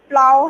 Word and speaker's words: plough: तो टफ में ये इस तरह से होगा प्रोनाउंस, और ये जो है ये प्लाव है, PLOUGH, इसकी जो स्टैंडर्ड प्रोनाउंसिएशन है वो प्लाव है।